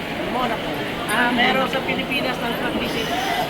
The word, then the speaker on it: Monaco: ha meko ang tawag monaco ang proper pronunciation sa mga Europeans is monaco ah pero sa pilipinas